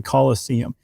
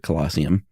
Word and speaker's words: Colosseum: So that was the the amphitheater that had the Colossus of Nero or the Colosseum. It's like museum but with coloss, right? But they didn't pronounce it colossium.